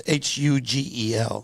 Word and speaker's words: Hugel: not called Huggle. I think it's called Hugel. no, He's it's French. It's Hugel. Yeah, I'm saying it wrong. So Hugel. you get it. Ugly. It's ugly. Because the H is silent.